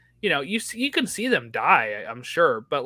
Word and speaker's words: Di: say his name because I was like di could also be D like D or something right like but um I like that uh I was able to remember how to pronounce it because of the next word being that he dies um but yeah so